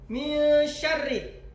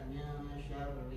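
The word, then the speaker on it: من شر: Min syarri. Oke. Min syarinya jangan terlalu tebal. Min syarri biasa aja.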